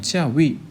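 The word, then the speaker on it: 教育: 그러면 이 교자를 중국에서는 찌아오라고 읽습니다. 사성으로요. 그 다음에 그 교육이 되면 찌아위 이렇게 되거든요.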